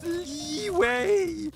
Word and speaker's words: Liyue: It's pronounced Liyue.